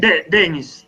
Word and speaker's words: Denis: So I suppose what's the correct pronunciation? Is it Denise? Where's the stress on the name? Is it Dennis or Denise? Dennis, Dennis. Dennis. So I think Denise is a girl's name.